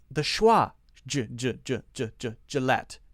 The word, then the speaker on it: Gillette: say the schwa ginger Gillette G Gillette Gillette Gillette we do say the T sound at the end Budweiser Budweiser Bud why